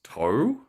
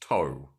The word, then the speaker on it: Tau: it says that um also spelled t-a-u in older records and pronounced toe t-o-w i feel like that